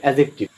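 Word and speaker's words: adjective: অ্যাডজেক্টিভ, এটা অ্যাডজেক্টিভ হবে না, ডির উচ্চারণ সাইলেন্ট থাকবে, অ্যাডজেক্টিভ।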